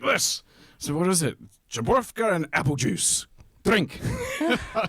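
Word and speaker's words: Żubrówka: Well, the original one is called Żebrówka, but probably nobody would be able to pronounce it or even read it.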